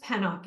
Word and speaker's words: Pennock: Yep, it's pronounced Pennock.